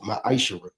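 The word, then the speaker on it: מעשר: You find this in the book of Numbers 18 21 and the book of Malachi chapter 3 8-10 means 10th in Hebrew and is pronounced maisher.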